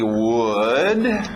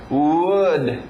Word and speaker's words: would: Alright, temos o primeiro aqui, would. Mesma pronúncia que nós vimos com could, lembra? Não erra essa pronúncia, é a mesma coisa que good, aquele som do soco na barriga. Good, could, would, ok?